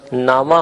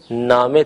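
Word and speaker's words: نامه: ہم اردو بولتے ہوئے اسے خانہ کہتے ہیں، یا اگر لفظ نامہ ہو تو اسے خبر نامہ وغیرہ نامہ کہہ کر تلفظ کرتے ہیں، جبکہ فارسی میں زیر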